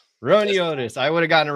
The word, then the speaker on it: Roiniotis: Ron Otis. Ron Otis.